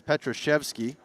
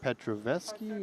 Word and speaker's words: Petroshevsky: It's Petroshevsky. I'm not sure. Maybe I've been saying Petroveski?